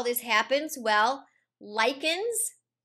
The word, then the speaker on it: lichen: Examples of how this happens, well, lichens, it's not pronounced lichen, it's pronounced lichen, and a lichen